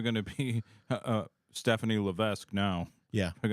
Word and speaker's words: Levesque: to be uh Stephanie Levesque now yeah they're G to drop M thing did not this this shocked me all these years I've been saying Levesque and guess what the S is silent in his it's l